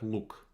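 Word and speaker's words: лук: we have luke so actually in russian this pronounced like luke they don't have uh difference in pitch so it's luke which is just a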